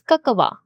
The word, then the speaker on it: cacao: The word cacao thought to be pronounced as kakawa by themes embarked on a journey through cultures.